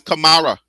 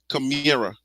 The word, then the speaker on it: Kamara: they're calling him cira that is not CA that's Kamara okay not be that and need Kamara so just for y for you guys to know that we liberians we don't pronoun pronounce that kamira when I did that